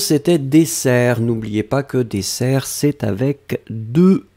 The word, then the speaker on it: dessert: N'oubliez pas que dessert, c'est avec deux S et donc pas d'accent. Attention, Meiso, pas d'accent sur dessert puisque vous avez déjà les deux S qui vous donnent la prononciation ouverte du E.